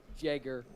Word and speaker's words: Jelger: It's Jager. Jager. The L is silent.